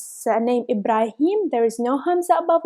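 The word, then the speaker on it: إبراهيم: word is Ibrahim Ibrahim under letter Aleph we have Hamza as you can see if we have Hamza under letter L if we pronounce it like e not like ah e ha ah he Ibrahim if we will have Hamza about this panic i I would have treated like Ibrahim Ibrahim it's wrong it's sending Ibrahim there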